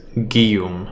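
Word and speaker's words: Guillaume: Uh, I believe it's Guillum and I think it's the French version of Julian. Guillum's ballad.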